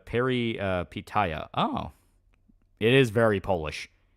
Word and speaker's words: Peripeteia: lot bigger now but it was Indie uh pronounced Perry Paya oh it is very polish little bit I